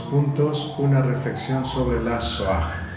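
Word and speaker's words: Shoah: Nosotros recordamos dos puntos, una reflexión sobre la soag. Soag es una palabrita que se escribe con sh o a h.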